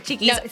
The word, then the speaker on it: Chiquis: excited everyone check out cheeki on or cheeky filtro I'm saying it wrong cheis unfilter yeah cheekies unfilter you say in Spanish Che sin fil Che and filtro f f onx she's so beautiful you're